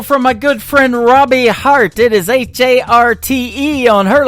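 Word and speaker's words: Harte: That is the latest single from my good friend Robbie Hart.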